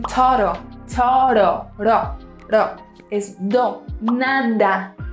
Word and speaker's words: nada: Es do, nada, nara. ¿Sí ven la diferencia? Nada es lo correcto, nara es incorrecto.